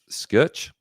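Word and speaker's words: Schuch: Uh, scooch. Can you just spell it for me, bro?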